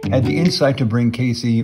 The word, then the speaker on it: Casey: the insight to bring Casey, or KZ as locals pronounce it, back to life in